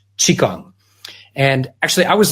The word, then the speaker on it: Qigong: weather however you spell it in English it's pronounced Qigong and actually I was like you too I